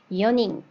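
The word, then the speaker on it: 四人: 근데 뒤에 이렇게 사람 인자가 붙어서 4명이라고 할 때는요. 연인 이렇게 발음을 할 거예요.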